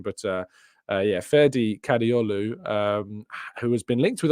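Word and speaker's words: Kadıoğlu: I don't think you pronounced the G. Our Turkish listeners might be able to give me a better pronunciation, but yeah, Ferdi Kadioglu, who has been linked with Arsenal before.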